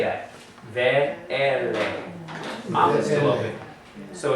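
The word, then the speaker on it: וְאֵלֶּה: Ve-ele. Mouth is still open. So it's an open syllable.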